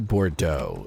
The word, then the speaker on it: Bordeaux: So, New Bordeaux is spelled like B O R D E A UX. So, that's like the only only way I know that pronunciation slightly or at least what it's supposed to sound like is because of that town, Bordeaux.